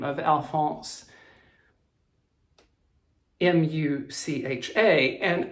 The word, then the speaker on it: Mucha: the name of Alphonse, M-U-C-H-A, and I was pronouncing it originally Mucha. I was told it was pronounced Mucha, And then another great